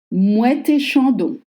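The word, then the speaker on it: Moët et Chandon: van mouette et chandon mouette et chandon mouette et chandon you have to voice the te and on chanson moon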